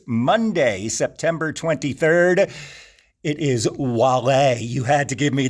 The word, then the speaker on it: Wale: It is Wale. You had to give me the correct pronunciation on that. I avoided some embarrassment. Wale, absolutely. Okay. happy to avoid embarrassment all the time. Wale, yes, he's another one.